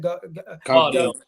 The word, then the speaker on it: Gvardiol: How do you pronounce it? Gvardiol.